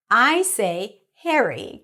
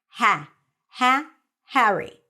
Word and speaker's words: Harry: the word Harry or the name Harry is pronounced a little bit with an e sound hariry and it's not Harry in British English it's Harry I say Harry cuz I use American